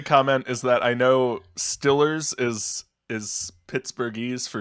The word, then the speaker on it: Steelers: i read today that to pronounce stillers correctly you've got to keep your tongue on the bottom at the back of your mouth that's how to properly say stillers too many steps to